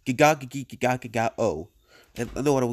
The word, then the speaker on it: gegagedigedagedago: It's practically impossible to pronounce, but it was known as the gegagedigedagedago trend. It involved... Yeah, he literally said it wrong. It's gegagedigedagedagedago.